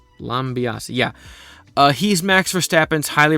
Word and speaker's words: Lambiase: So McLaren F1 hired Gianpiero Lambiase, who I hope that's how you say his name. Lambiase, yeah.